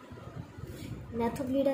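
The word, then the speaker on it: Gnathobdellida: मैथोब्लीडा इसका ऑर्डर होता है। जी जो होता है वो साइलेंट होता है।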